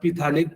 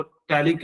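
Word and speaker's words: phthalic: वैसे आप पिथैलिक पैथैलिक मत पढ़िएगा, पी यहाँ पे साइलेंट होता है, इसलिए इसको टैलिक एसिड कहा जाता है, टैलिक एसिड।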